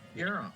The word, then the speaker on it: Kyurem: All right, how do you guys pronounce Kyurem? It's Kira. Kiram. Kiram. So not like what I just did then. No, it's Kiram.